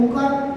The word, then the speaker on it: ओम: ओमकार इसका उच्चारण ए यू एम ऐसा होता है।